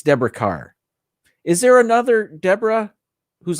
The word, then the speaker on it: Deborah Kerr: Deborah Carr. I think it's pronounced Carr, although it looks like Kerr, but I think it's Deborah Carr.